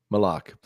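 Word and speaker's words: Maluach: Kaman Mulach? Malak? How do you pronounce that? You know? Malak. Malak.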